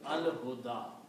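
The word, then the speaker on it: الهدى: one, so it becomes al huda. Okay. And this is will be written like that, al huda. Can be written like that. This ya is not pronounced, the alif is pronounced.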